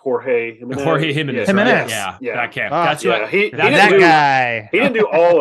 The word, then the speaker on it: Jorge: get his name pronunciation Jorge Missouri he didn't do all of them but I know we did some of them well in in most often when you see young John it's hor it's him and his work